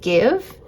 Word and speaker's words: GXVE: I believe it's pronounced Give.